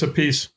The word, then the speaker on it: Appice: Got Vinny Appice, the drummer extraordinaire from Black Sabbath, Dio. Actually, it's Appice.